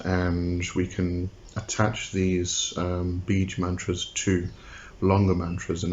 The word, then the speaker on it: beej: Now, when I say beej, it's spelled two ways usually when you go search: B-I-J-A or B-E-E-G. Sorry, say again, B-E-E-J. So if we look at